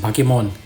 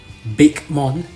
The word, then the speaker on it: Bakemon: just an English speaker when you see b a k e you think bake cuz you're like you